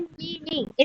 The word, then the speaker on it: Mealy: लिए मैंने बनाया था मिली को जब हम प्रोनाउंस करते हैं तो हम क्या कहते हैं मिली जिसमें ई जो वर्ड